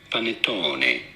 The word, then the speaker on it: panettone: pronouncing it in italy in italian it is normally said as panettone panettone is what i